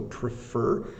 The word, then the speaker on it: prefer: the morning as opposed to the afternoon so prefer it's p r e f e r prefer